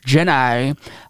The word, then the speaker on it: Ginni: thomas's wife jenny thomas i believe her name is pronounced jennai um well we already